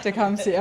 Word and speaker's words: Tecumseh: Tecumseh.